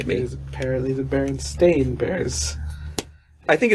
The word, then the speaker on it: Berenstain: There is a whole generation of people who remember it as EIN.